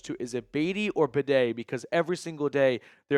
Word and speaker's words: Beatty: And Mike Kliss today said Beatty called his family, and his family told him it's pronounced Bidet.